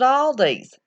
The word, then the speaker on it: Aldi: Aldi's?